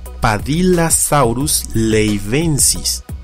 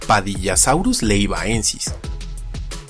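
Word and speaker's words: Padillasaurus leyvaensis: leyva por lo que no se pronuncia padila saurus ley benzies sino como se lee padilla saurus leyva génesis pues esa no es un diptongo sino la mera y fortuita cual escencia de leyva más la declinación en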